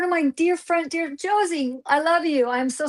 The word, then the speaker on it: Josie: It's like Rosie with a J. Josie. A J. Is it Josie?